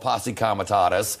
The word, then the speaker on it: Posse Comitatus: That's different than the National Guard and could involve Posse Comitatus.